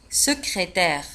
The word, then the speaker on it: secrétaire: secrétaire une secrétaire secrétaire في آخر الكلمة T-A-I-R-E تنطق terre une secrétaire mécanique un mécanicien un